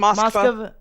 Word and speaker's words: Moskva: Moskva.